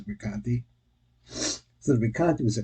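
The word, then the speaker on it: Recanati: I've always pronounced it Rekanati, but okay, this is Rekanti.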